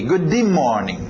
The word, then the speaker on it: good morning: Agora, olha aqui, o D e o M estão chocando. Consoantes não batem muito bem. A tendência do português seria colocar um I aqui. Good morning.